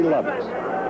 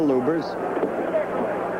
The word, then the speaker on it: Lubbers: indonesia muhammad ali against rudy lovers or lubers it's pronounced both ways bloopers is probably more technically correct anyway it's the way rooney